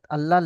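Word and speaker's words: الله: 13 আল্লাহ শব্দের কায়দা আল্লাহ শব্দের মুশাদ্দাদের পূর্বে আল্লাহ আল্লাহ মুশাদ্দাদের পূর্বে যদি জবার অথবা পেশ যদি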